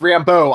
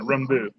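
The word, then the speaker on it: Rambeau: either she's gonna build the last name is pronounced Rambo I told you you know I was trying to put more of a French pronunciation rembu there from Louisiana what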